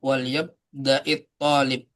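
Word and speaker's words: وَلْيَبْدَأِ الطَّالِبُ: Jadi kalau ada dua sukun ya. Ini kan sukun juga nih alif lam ini sukun. Sukun ketemu sukun maka menggabungkannya di kasroh. Jadi wal yabda'it jadi dibacanya kasroh. Tapi kasrohnya tidak asli ya. Karena yang kasroh akhiran kasroh itu hanya isim saja. Kalau fi'il tidak. Ini hanya tambahan nih. Kasrohnya tambahan. Tidak asli.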